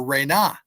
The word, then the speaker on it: Ren: Budge considers that to be the divine name, and he pronounces it Ren. But I know from my comparative studies that the proper cosmological syllables are Re-Na.